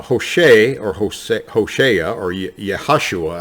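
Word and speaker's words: Yehoshua: or hose hoshaya or yahashua actually is how it's pronounced in hebrew was his name originally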